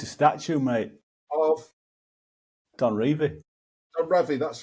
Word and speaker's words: Revie: my mum asked Don how to pronounce his surname. And it's Revie. It's Revie. So don't get me wrong, because I'm annoyed at you for doing that, because people will think, oh yeah, you pronounce it Revie now. But the thing is, some of my absolute heroes always called him Revie, and I don't want